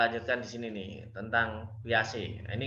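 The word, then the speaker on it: Piaget: di sini nih tentang pias ini kalau bacanya Jin pias Ya saya sering mendengarnya pias itu cara membaca orang-orang yang yang katanya begitu panggilannya pias jadi siswa SD usia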